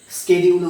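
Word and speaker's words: schedule: এখন এই মুহূর্তে আমাদের 12টা শিডিউল আছে। ঠিক আছে, 12। এটাকে কেউ শিডিউল উচ্চারণ করতে পারো বা কেউ স্কেডিউলে উচ্চারণ করতে পারো, যেটা তোমাদের সুবিধা হবে সেটা করো।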